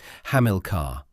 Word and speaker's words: Hamilcar: The name is pronounced as British classical scholarship renders it Hamlcar stress on the second syllable which is also how it appears as the primary entry in Collins English dictionary.